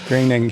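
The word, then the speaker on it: Groening: So Graining, he says it rhymes with complaining.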